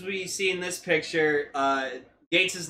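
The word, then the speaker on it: Geiz: But no, so yeah, even though it's spelled like that, it's still pronounced Gates.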